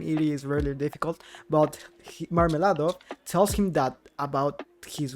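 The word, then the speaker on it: Мармеладов: is really difficult but marmilado tells him that about his wife catherine and their daughter sonia oh well the pronunciation is like marmalade and well then marmela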